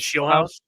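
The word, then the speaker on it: Scheelhaase: What's I I can never pronounce his last name. What is it? Shield Shield House.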